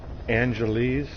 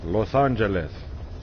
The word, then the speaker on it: Los Angeles: do you hear how how brits say angelese like wow you're closer to spain than we are it's los angeles or los angeles athletes the united states